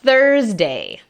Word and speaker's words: Thursday: Thursday. Es una TH suave.